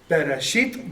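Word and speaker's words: בראשית: So again, it's be, I, re, e, shi, it, bara. Bereshit, bara.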